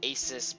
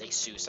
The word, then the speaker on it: ASUS: And he told me, hey, ASUS is it's ASUS, but it turns out it's ASUS.